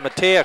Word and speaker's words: Madia: Short jumper in the lane by Madia is up and in. They're pronouncing it Matea, Chris, so we'll go with that.